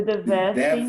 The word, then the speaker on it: devastating: To feel the devastating effect. Devastating. Devastating effect. It's not, you are, as I told Erika, you are emphasizing the third syllable. It's devastating.